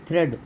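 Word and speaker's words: thread: यदि ए से पहले ई हो तो ए का उच्चारण नहीं होगा। आप देखिए ए से पहले ई हो, क्या है थ्रेड में देखिए THREA, तो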